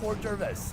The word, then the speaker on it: hors d'oeuvre: Like a hors d'oeuvres. Hors d'oeuvre. Is it singular? There is an S, but the S is silent. Hors d'oeuvre.